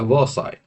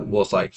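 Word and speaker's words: Versailles: और इस वॉर के बाद अ ट्रीटी वास साइन ट्रीटी ऑफ वसे या वसाई यह इसी तरह से प्रोनाउंस होता है वसाई।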